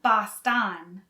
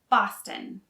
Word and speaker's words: Boston: quarter and jazz music the second o is not really pronounced so it's not boston it's boston boston boston the city of boston